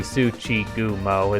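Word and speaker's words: Tsuchigumo: pronounce that word before that should be tsuchi gumo as there should be four hiragana there anyway i have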